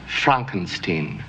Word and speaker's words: Frankenstein: My name, it's pronounced Frankenstein.